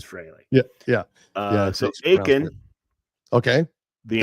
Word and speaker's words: Frehley: F-R-E-H to me is Fraley.